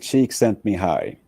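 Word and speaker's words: Csikszentmihalyi: I I want you to be able to pronounce his full name for us please say his full name correctly mihai cheek sent me high but you know he said okay call me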